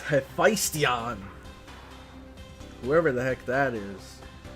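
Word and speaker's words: Hephaestion: I thought it was supposed to be Heestus when I first read it, but it's Heistion, whoever the heck that is.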